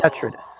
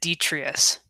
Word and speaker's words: Detritus: I kind of, I've always said Detrius. I could be, I'm probably completely wrong in that No, pronunciation. I must be wrong because that's how they pronounce it on the other show. I'm the only one who's put in the short I in there. So Okay.